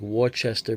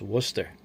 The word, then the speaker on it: Worcester: Looks like Warchester, but it's pronounced Worcester.